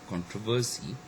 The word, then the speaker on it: controversy: say exception um like in the word um you know controversy we have got the first syllable con which is stress and sometimes you know we may also stress uh the second syllable true okay likewise we